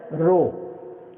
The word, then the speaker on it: rho: Rho, we pronounce it as rho.